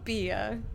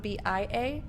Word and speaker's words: bia: into traffic instead oh bia every time i say bia at least today i'm thinking of swahili because it's because the same pronunciation bia but spelled b-i-a is beer in swahili bia bia this is